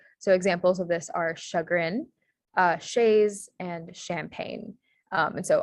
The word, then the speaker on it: chagrin: Yeah, for more French examples, the sh sound is spelled with a CH in French. So instead of using an SH, it's usually spelled with a CH. So examples of this are chagrin, chaise, and champagne.